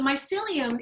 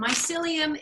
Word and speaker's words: mycelium: So the mycelium is, I'll give you an example.